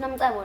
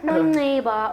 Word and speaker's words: Nomcebo: Uthola bathi Nomceba or futhi abanye ababelungu Noms or Nomsibu. Ama-Arab athi Nomsibu, and I'll be like, yo, it's fine.